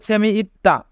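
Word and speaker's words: 재미있다: ইত্তা মানে মজা আছে এখানে ত বাবা সেমের পরে দ্বিগুত থাকার কারণে দ্বিগুতের উচ্চারণ তবে হবে দায় উচ্চারণ হবে সেমি ইত্তা সেমি ইত্তা মানে মজা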